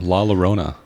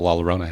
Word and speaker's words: La Llorona: I say La Llorona because that's how it's spelled. Do you say tortilla? Tortillas. Make yourself a damn quesadilla. I would say La Llorona. That's how the guy introduced it on the movie.